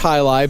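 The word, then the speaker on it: jai alai: well and it's actually it's uh spel it's pronounced highi but it's uh spelled j a i a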